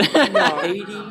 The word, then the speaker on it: Heidi: And that's how they pronounce it, but it's it's spelled Heidi, but Hades means hell. Just drop the S. That's how you pronounce it. I don't know whether there's any relation there, but Haiti Taylor.